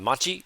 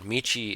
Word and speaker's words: 道: Machi, street, right? 道。この道を知っています。 Machi is town. Michi is road or street.